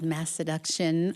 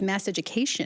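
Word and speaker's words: Masseduction: Vincent, the new album called Mass Seduction. I have to say I didn't know initially how to pronounce that because it's a very fun word.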